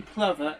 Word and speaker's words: plover: Plover um I did I got corrected on that many years ago so I know it's golden clever even though it's spelled golden Clover again it's another bird